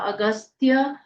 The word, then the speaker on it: अगस्त्य: स और य स्तत्रस्य अगस्त्य पूरा ग पूरा आधा स आधा त अगस्त्य ऋषिह ऋषिह अनुष्टुप अनुष्टुप